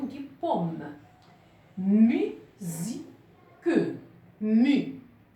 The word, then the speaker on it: musique: Musique. Mu. Au début du mot, on entend mu. Donc, c'est le son U. Et non pas le son A. Musique.